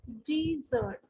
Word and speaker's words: dessert: Okay, when there is a double S, then there is a sound, and we call it as a desert. There's a long E over here, and this is the symbol.